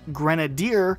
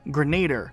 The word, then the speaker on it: Grenadier: Also, like the earlier one we talked about, there is the Grenadier helmet, but it's not the Grenader helmet.